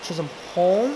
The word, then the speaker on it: Chisholm: Chisholm, really?